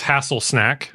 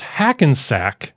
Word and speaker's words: Hackensack: Pronounce Hassensack as Hasselsnack.